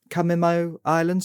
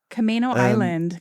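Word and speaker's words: Camano Island: And Brena can be found growing her beloved pansies and violas on the Camo Islands. Is that how I pronounce it, Brena? Kamino Island.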